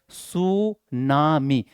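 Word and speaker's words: tsunami: यहां T silent है। आप लोग याद रख लेना टी साइलेंट होते हैं। सु पढ़ा जाता है।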